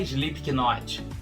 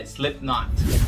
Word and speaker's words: Slipknot: Então, aquela banda de rock famosa não é Slipknot que se fala, é Slipknot.